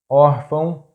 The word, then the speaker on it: órfão: The next tip is: if a word has two accent marks the stressed syllable is that one which has "acento agudo"or "acento circunflexo", because in this case "til" is just a nasal mark.